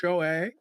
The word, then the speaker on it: SCHJOAY: That's pronounced Shoei.